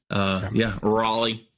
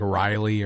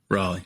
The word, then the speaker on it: Raleigh: Raleigh. However you want to say it. I like to check on pronunciations before I'm always just scared I'm going to say something wrong. I'm going to get on and say like Riley or something and just look like an idiot.